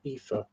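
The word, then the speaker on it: Aoife: Like I said, EA.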